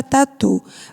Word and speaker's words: tatu: O tá, a gente quase não pronuncia, não é isso? Mas o tu é a sílaba forte.